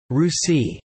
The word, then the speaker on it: Rishi: descendant families of these Rishi's refer to their ancestral lineage through their family gotra this is a common practice among the Brahmans sects of the current hindu society the name rishi pronounced rusi is also the basis